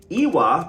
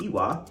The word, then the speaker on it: Iwa: Iwa, pronounced Iwa, is the Europe term for character, right?